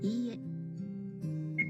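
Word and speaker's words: いいえ: and E, E, E, you draw out the length of the sound. E. So E becomes E. It's not quite the same as repeating the vowel twice.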